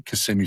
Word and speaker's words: Kissimmee: And I incorrectly pronounced it as everyone else ever did. Oh, Kissimmee. So Yeah. like gently corrected me. Kissimmee, Florida.